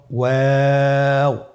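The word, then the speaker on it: واو: আমরা স্ক্রিনে দেখতে পাচ্ছি ওয়াও হরফটি উচ্চারণের ক্ষেত্রে বারিক হবে এবং তিন আলিফ টেনে পড়তে হবে। আপনারা আমার সাথে বলুন। ওয়াও ওয়াও দুই ঠোট গোল করে মাঝখানে ফাক রেখে হরফটি উচ্চারণ করতে হবে।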